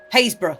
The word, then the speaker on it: Happisburgh: Haysborough. That's the best one. Oh, yeah. Happisburgh.